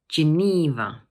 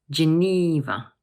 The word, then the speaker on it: Geneva: This word has three syllables, and the middle one is stressed, Geneva. Notice that the middle syllable is a long E sound. So we say Geneva. One more time, Geneva.